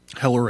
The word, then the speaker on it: Hoeller: Heller, I think he pronounces it.